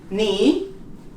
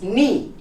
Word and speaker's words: knee: In K, like in these words, it's never pronounced when it comes before the N, such as knife. You don't pronounce the K. No. To know, you don't pronounce the K. Knee.